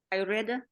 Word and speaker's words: Ayurveda: Ayurveda, the science of life.